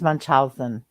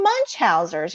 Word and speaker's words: Munchausen: that that's commonly mispronounced I think it's much Munchausen its Munchausen yeah okay yeah but you know some people say munch Hauser's you know whatever we